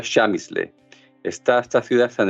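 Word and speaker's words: Przemyśl: chamis le es un una palabra polaca que no se parece nada a como se pronuncia y que se escribe de la siguiente manera PR r Z e m ys l se pronuncia shamis le est esta ciudad está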